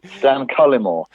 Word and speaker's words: Cullimore: Stan Cullimore. That's it. I stress the first syllable, Cullimore, and I like the way you sort of stress the first and the third syllables.